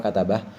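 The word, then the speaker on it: كتبة: Tambihun, satu pengingat, qauluhu hamalatun wa safaratun wa hafadatun wa katabatun bi fathi ahrufiha atsalatah. Ini bacanya hamalah, safaroh, hafadah, katabah.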